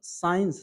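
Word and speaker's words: science: गलत होगा क्या चीज क्या चाहिए सीखो साइलेंट कर देना साइंस को अगर हम यहां पढ़ने तो साइंस साइंस उल्टा हो गया था इसमें होगा की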